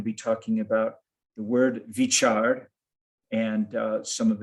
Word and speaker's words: Veechar: And also, let me share with you that the word Veechar, which in Gurmukhi is most commonly spelled with a V, a Vava, you can also have the equivalent spelling of a B as Baba. So it can either be Veechar or Beechard.